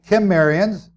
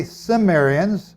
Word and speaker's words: Cimmerians: And Gomerian became that's a hard C down here on the Kimmerians, it's almost like a K, Kimmerians. And today we now say Cimmerians, or I do. Some people still use the hard K.